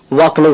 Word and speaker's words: walk: அதே போல WALK வாக்குன்ற வார்த்தையில L சைலண்ட், வாக்குன்னு உச்சரிக்கணும்.